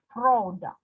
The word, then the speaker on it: product: For example, take example, product. The part pro is stressed, it's louder, product.